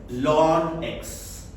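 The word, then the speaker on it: ln: Then it is called log to the base e and it is also sometimes pronounced as lawn x.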